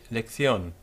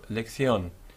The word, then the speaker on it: lección: The Castilian pronunciation would say lección, with the C in front of an I becoming a th type of sound, so lección. Whereas in other parts of Spain, not so Castilian oriented, you will hear lección, and you will hear